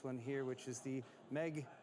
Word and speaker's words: MEG: here, which is the Meg X. I shouldn't be I shouldn't be saying Meg, it's MEG, but it's spelled Meg, right? MSI is calling this the